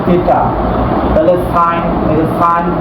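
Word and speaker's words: theta: থি এটা উচ্চারণ কি এটা উচ্চারণ হচ্ছে থিটা তাহলে সাইন এইযে সাইন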